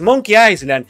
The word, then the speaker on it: Monkey Island: Tiene una S, pero se pronuncia Island, la palabra Island. No sé por qué le ponen una puta S si no se pronuncia.